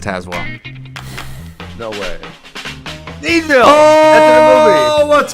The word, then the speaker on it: Tazewell: Tazewell. Pronounced Tazwell.